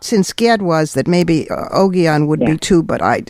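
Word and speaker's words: Ogion: I say Oon. Oon. Yeah. My the G's as in GD are generally hard. That's I thought since Ged was that maybe Oon would be too, but I didn't know.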